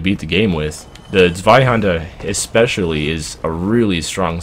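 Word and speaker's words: Zweihänder: Or if you pronounce that in like the correct German accent, it sounds more like Zweihander, I think.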